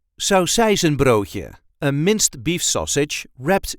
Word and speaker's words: saucijzenbroodje: sound more like this there is a light emphasis on the second part of the word so or without the